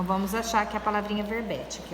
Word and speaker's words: verbete: Então, ó, verbete, a separação silábica seria ver-be-te. Ó, a sílaba forte já está em negrito, que é o bé.